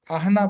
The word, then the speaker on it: Ahana: It's pronounced the way it's written because Ahana is Sanskrit.